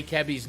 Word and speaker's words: Cabby: Well, it's always tricky because I asked Hanezo, I said, how do you say Cabby's name? He said, you say it with a bright E.